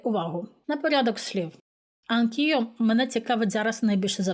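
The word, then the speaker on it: anch'io: Тому ми там поставили апостроф, і ми його будемо вимовляти як одне слово, так і запам'ятайте. Анкіо. Спробуйте повторити. Акіо. Не анкео, а анкіо. Воно звучить дуже злитно, як в одно слово, реально.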